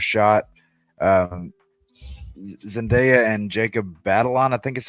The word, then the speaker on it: Batalon: Um Zendaya and Jacob Batalon, I think is how you say his name. I mean, they're You're correct. It's Batalon.